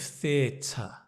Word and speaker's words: theater: explain the pronunciation of theater theat the can I explain it so you've got the th you've got the the long vow or the dip thong e the and then t t and the T so